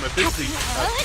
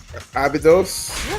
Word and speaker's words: Abydos: said they were from actually from Abyssy. I never can pronounce that right the first time. Abyssy. Finally made it. Ruby, you know the school I'm talking about. Abydos?